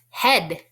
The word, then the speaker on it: head: Head can be a tricky word to spell because E-A usually stands for the E sound, but this time it's making the short E sound, eh. So when I sound it out, I hear h-e-d, head.